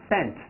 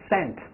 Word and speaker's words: St.: S-T here. S-T. Pronounce Saint. Saint.